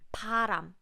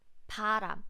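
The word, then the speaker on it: 바람: beginning of the syllable it sounds similar to English P but please make sure that you breathe out less air you use less air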